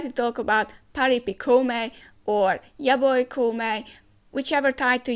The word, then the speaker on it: Koumei: a bit weird because it is written as Kongming, so why are we pronouncing as Koumei? I think let's just stick to the Japanese original pronunciation and let's just call our, sort of main character Koumei.